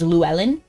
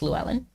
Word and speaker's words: Llewellyn: He probably anglicized it because no one can pronounce the voiceless that. Lateral that. I can't even pronounce what you're telling me it is. Oh, okay. The two L's. It's voiceless. So it's like, I don't even know how to say that. Like, power in the L, like.